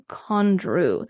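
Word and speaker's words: Condrieu: the best of the best uh head to condr this is c o n d r i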